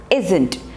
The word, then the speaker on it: isn't: two are aren't next is is not is isn't i s n apostrophe t isn't she is